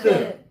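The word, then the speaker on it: bath: 베스, 베스. 아는 분. 이건 알 수도 있는 단어인데 뭐예요? 그렇지, 욕조. 베스. 욕조예요, 욕조. TH 발음 잘해야 돼.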